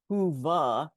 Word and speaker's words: Whova: Yeah, today's app is Whova, pronounced, Whova.